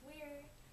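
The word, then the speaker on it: Weyr: It's pronounced weird.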